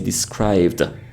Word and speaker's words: described: Instead of saying describe it, we say described.